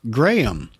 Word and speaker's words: Graham: And I know that's right because he signed it Graham, pronounced Graham. I know what you're like with foreign names, he says.